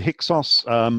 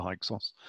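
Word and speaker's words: Hyksos: people call it the hexas Manito says you can pronounce it either way so I call it the hike sauce and then asked me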